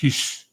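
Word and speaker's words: Gijs: And I found a guy, a Dutch guy, whose name is GJI. It's pronounced Hish.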